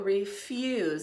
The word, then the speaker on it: refuse: The R-E-F-U-Z. More of a Z.